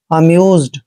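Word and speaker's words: amused: यू आ रहा है तो एस का उच्चारण वहां ज करेंगे अमज अमज का मतलब होता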